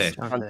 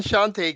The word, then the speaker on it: Shantae: I keep forgetting how to pronounce the name. Shanty. Shantae. Shantae. I think it was Shantae, Shantae.